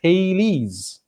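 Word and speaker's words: Thales: term th al es but it should be pronounced as Talese yes in juvenile star satire ambitious is the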